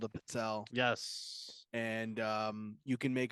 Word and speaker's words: pizzelle: Yeah, pizzelle.